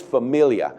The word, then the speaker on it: Familia: New York Mets and this is not uh a typo and it's not a mispronunciation jory's Familia that's right that is his name and I'm in Costa